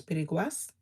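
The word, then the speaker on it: piraguas: I think the pronunciation is piriguas, which is shaved ice, like Italian ice or whatever.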